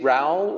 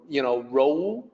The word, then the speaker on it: rou: Pinyin is R-O-U, so a native English speaker might say Rao or, Rou, something like that, but it's more like R-O-H, Rou.